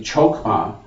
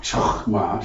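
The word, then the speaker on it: חכמה: Of course, in English, we would probably say chokma, but I think the correct pronunciation is something like, it's like a chokma, something like that.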